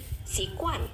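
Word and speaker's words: 习惯: misalnya teman-teman baru tahu, ini kan tulisannya GUAN. Kalau GUAN itu nggak dibacanya kayak guan ya, kayak K aja. Oke, jadi sikuan. Oke, K kayak agak kayak K tapi K-nya jangan pecah ya.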